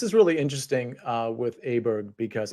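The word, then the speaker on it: Åberg: uh with aberg because is it aberg or auberg I don't want to say that wrong Byron this is Ludwig yeah but how do you say is his last name okay I think it's aberg okay I think it's a Brooke as well uh good answer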